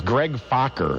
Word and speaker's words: Focker: his character name is greg focker f-o-c-k-e-r you have to be careful how you pronounce that don't you problems begin